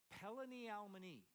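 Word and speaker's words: פלוני אלמוני: All right, in Hebrew, Boaz is using a farrago here, and the way it's pronounced in Hebrew is Pelani Almani.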